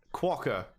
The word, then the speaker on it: Quokka: the juicier second game um first of all quacker is that how you say it yeah all